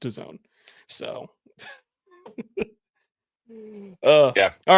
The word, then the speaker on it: DAZN: Well, if anything, we all learned something today in the fact that it is pronounced DAZN.